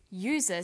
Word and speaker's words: user: but a user because user sounds like it begins with a y a and an are